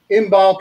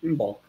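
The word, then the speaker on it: Imbolc: february and it's kind of this feast um in bulk is a celtic word that means in the belly how do you spell that it's i-m-b-o-l-c huh in bulk okay it's kind of it's not the best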